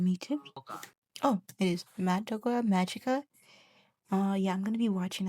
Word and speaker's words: Madoka Magica: Oh, it is Madoka Magica.